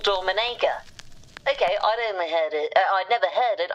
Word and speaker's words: Dominica: brought up was a country which apparently is pronounced Dominica. I, like many, thought it was Dominica. And people are fine to correct and say, no, it's called Dominica.